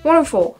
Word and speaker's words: wonderful: from your last video wonderful just enunciate the three syllables wonderful it's it's wonderful wonderful